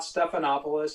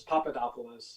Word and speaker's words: Papadopoulos: last name there sir it's not stephanopoulos it's papadopoulos okay there we go i